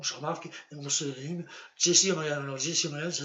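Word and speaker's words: Jessy O'Magahn: me trouver sur mon blog, il faut spécifier Jesse O'Malley, tel que je vous le dis, là, à l'instant présent, tel que je vous dis que telle est l'orthographe. Je répète une dernière fois, Jesse O'Malley.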